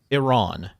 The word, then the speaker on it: Iran: It is Iran is the correct pronunciation, if you're wondering, since you're asking.